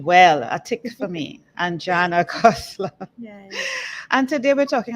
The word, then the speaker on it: Anjana Khosla: I have with me a beautiful woman, Anjana Khosla. Did I pronounce that correctly? You did. Thank you. I Thank did you. well. A tick for me, Anjana Khosla.